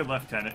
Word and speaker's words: lieutenant: it's a purple yes why do people say leftenant in Britain town because we pronounce correctly I don't know honest